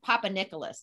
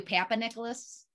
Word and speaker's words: Papanicolas: you said it perfectly did some people call you papa nicholas yeah you know it's it phonetically you could do it both ways and that's the nice